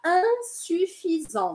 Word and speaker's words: insuffisant: com IN no começo, vocês querem pronunciar igualzinho o português. E aí falam in. E aí não funciona, porque eles não vão entender.